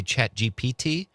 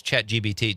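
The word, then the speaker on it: ChatGPT: Chat, did you say chat GPT? Cuz the first time you said it, you say it like my wife and she says chat GBT just cuz it's easier to say it that way.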